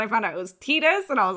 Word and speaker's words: Tidus: So I always thought it was Titus, and then I found out it was Tidus, and I was like, what?